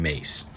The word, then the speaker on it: Myss: everybody by from the archetypes cards by caroline mace now if you don't know how to pronounce her name i didn't for the longest